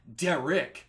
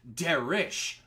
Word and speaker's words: Derich: See, it's not Derich with a K. It's Derish with an H.